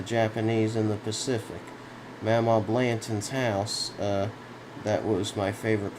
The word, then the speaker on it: Blanton: Mama Blanton's house, that was my favorite place in the world. I mean, no, that's not how it's said. Why am I saying it like that? Mama Blanton's house was my favorite place in the world.